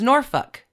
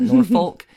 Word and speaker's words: Norfolk: I now know it is Norfolk, not Norfolk. It's Suffolk, not Suffolk.